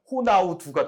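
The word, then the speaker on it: Ronaldo: 제 기억에도 그리고 이제 98이 되면은 이제 각 나라의 그 발음에 좀 맞춰 가야 된다 해서 호나우 도가 됐는데 그때는 두 가지는 안 했어요 그러다가 이제 2002 한일 월드컵 때부터는 호나우두가 됐죠 맞아요 그러니까 이게 처음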